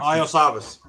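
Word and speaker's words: Iosivas: Lisavis? Evan. How do you say his last name there, Canadian? Wide receiver. out of Princeton. Iosavas.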